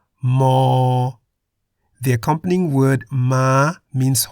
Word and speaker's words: ม: playlist in the description the Thai consonant M sounds like an m at the beginning and end of a syllable Mo the accompanying word ma